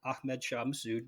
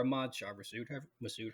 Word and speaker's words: Ahmad Shah Massoud: One of the big reason why we were hesitant to back him is because Ahmad Shah Massoud, or Ahmad Shah Massoud, however you want to pronounce it. I've heard apparently both's acceptable.